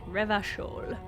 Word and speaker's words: Revachol: I'm glad I finally heard that pronounced out loud. Revachol.